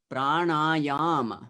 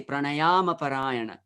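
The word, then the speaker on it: प्राणायाम: mahatma yama so you you cannot say pranayama it's prana yama three times stress yeah naturally because of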